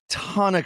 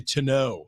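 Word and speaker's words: tonneau: how do you pronounce ton of cover and he said well a bed cover and then he said no actually uh since it's E auau I would probably say to know yeah he said because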